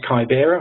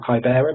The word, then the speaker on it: Kibera: is in Kenya and this is kibera or kibera depending on how you pronounce it and for those